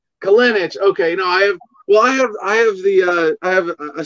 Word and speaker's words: Kolenich: It's Kolenich. Kolenich. Okay. No, I have a similar challenge. The problem is when people mispronounce my last name, it can sound lewd very easily.